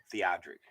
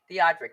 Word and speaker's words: Theodrick: And how would you pronounce it? Theodrick. Theodrick.